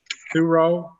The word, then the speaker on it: Thurio: and tristan thurio daddy how do you say it two-row two row two-row all right so when